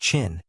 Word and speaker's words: Qin: In the western state ofQin, pronounced Chin.